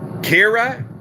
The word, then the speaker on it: Ciara: is a firm touchdown kira yeah it's kira i'm from ireland that's the way we say it did i say it